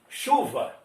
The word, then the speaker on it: chuva: Como é que você fala chuva? Você pronuncia o CH? Não. X, U, VA, chuva.